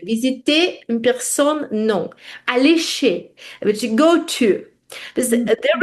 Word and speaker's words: chez: visiter, a besoin d'aller chez. To go Mhm. to. Aller, go, chez, to. Que. Chez, si, H, E. C-H-E-Z. Chaise. Mhm. Chaise, mais on prononce chez. On prononce Mhm. chez un docteur, par exemple.